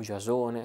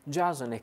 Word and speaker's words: Giasone: Il personaggio di Giasone, o Giasone, a seconda che vogliate pronunciare alla latina o alla greca, Giasone che guida gli argonauti nella spedizione per vincere, per portare a casa il vello d'oro.